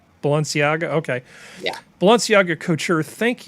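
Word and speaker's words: Balenciaga: it pronounced balanciaga balanciaga okay yeah balanciaga coacher thank you congrats to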